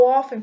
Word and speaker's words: often: How often, pessoal, é uma expressão. É assim, com que frequência? How often? Tem um T aqui, mas a gente não pronuncia esse T.